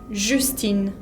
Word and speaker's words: Justine: Justine. Lo mismo. Justine. No pronuncio la E final.